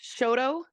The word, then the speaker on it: Shoto: It's pronounced Shoto. It's the Shoto pallasite, and it fell in Shoto, Montana.